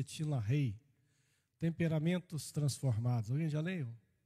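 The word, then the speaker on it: LaHaye: Eu não sei se alguém aqui já leu o livro de Tinla Rei, escreve Tinla Raio, mas pronuncia Tinla Rei.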